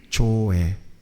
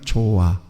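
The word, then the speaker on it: ζωή: 성경에 조에. 이게 헬라어인데 한번 따라서 해볼래요? 조에. 잘못 발음하면 조아. 조예요. 조에.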